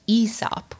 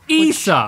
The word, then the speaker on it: Aesop: It's also apparently pronounced Aesop. Aesop.